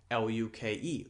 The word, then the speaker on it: Luke: But if the E were pronounced as then it would be Luke. That is not the correct pronunciation, but if it were said like that, then it would be two syllables, okay?